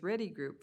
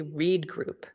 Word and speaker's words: Reed Group: Yes, so just to clarify, this is a no-cost extension of our agreement, and I pronounced it the same way you did, Commissioner Bell. It's actually Reed Group.